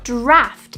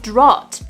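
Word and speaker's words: draught: huh a moo point draft is the correct pronunciation here but people often get confused because of the a-u-g-h-t which is the art signed so people might often say drought instead of draft larva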